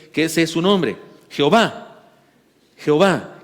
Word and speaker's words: Jehová: ese es su nombre Jehová Jehová que también se podría pronunciar yahwe para los que tienen